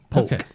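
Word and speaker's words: Polk: Yeah, the plant is P O L K. Poke. Stupid letters got in the way. It's that silent L that'll get you.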